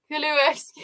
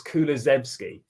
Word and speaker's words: Kulusevski: It's so hard to pronounce. Go on, try again. Kuluevsky. No, Kuluevsky? it's just spelt wrong there. It's Kulusevski.